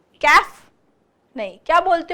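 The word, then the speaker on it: café: तो ई के ऊपर, ये ई वाउल के ऊपर ये जो निशान है, इससे हमें पता चला है कि इसको क्या प्रोनाउंस करना है, कैफे।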